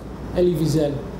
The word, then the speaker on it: Elie Wiesel: And then I came across, and you might have to help me with pronouncing this author's name, Elie Wiesel? Elie Wiesel.